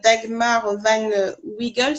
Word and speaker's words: Dagmar Van Wiegel: Avec Dagmar Van Wiegel, ça se prononce comme ça, C'est ça.